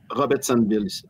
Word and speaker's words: Robertsonville: Ouais puis on dit Robertsonville. Rob Robertsonville Robertsonville on prononce pas le deuxème a c'est ça on finisse pas en anglais c'est tout ok c'est